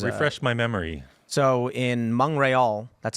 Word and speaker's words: Montreal: So in Montreal, that's how it's pronounced.